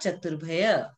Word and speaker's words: चतुर्भ्य: एकादिनी भाज्यानि युगपदे कस्मिन्ना चतुर्भय। अब आप लोग सब बोलेंगे साथ में, एकादिनी भाज्यानि युगपदे कस्मिन्ना चतुर्भ्य। ये जो र ऊपर में लगा हुआ रहता है ना, उसको आप लोग पहले प्रोनाउंस करोगे, ठीक है?